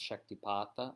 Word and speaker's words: shaktipāta: And we're going to get into this exact topic about shaktipāta, or the so-called descent of power or descent of grace. It can be pronounced shaktipāta as well, and even shaktinipāta, and its relation to dīkshā